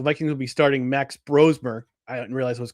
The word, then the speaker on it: Brosmer: Coming into this game, we saw that the Vikings, Kevin O'Connell, Vikings coach, said that the Vikings would be starting Max Brosmer.